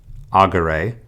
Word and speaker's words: agere: However, in third conjugation, we have no accent mark there, so instead the words are pronounced agere, curere, and legere.